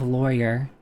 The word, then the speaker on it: lawyer: Uh, how would you pronounce the first syllable of lawyer? Well, I already said it. Yeah, I would say lawyer. Uh, rhymes with boy, right? Ly boy. Yeah. Uh, rhymes with flaw. Oh, cuz law li lawyer, right? Is that how they're trying to say it? I use both pronunciations interchangeably or other. Yeah. So, I just do rhymes with moy. I guess I guess that's not a southern thing.